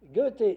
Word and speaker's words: Goethe: Goethe ?» Goethe écrit « Goethe », G-E umlaut T, sans le TH, le Goethe prononce.